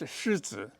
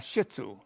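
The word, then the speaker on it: shih tzu: it means lion and lion is shitu not shitsu but every call everybody calls the dog shitsu so it's shitsu so everybody calls it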